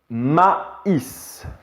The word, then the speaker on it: maïs: et du e le maïs noël donc en fait on va prononcer distinctement ce y très maisi le maïs et on va faire